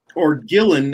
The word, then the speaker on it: Ghislaine: It says Justice Department gave Ghislaine Maxwell, or Gillen, as her brother pronounces it, Ghislaine Maxwell, a platform to rewrite history.